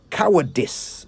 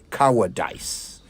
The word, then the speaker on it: cowardice: I in this word comes with the I sound, not the I sound. Cowardice, not cowardice. You wouldn't say justice or prejudice, would you? Good. So don't say cowardice, not if you wish to say it right.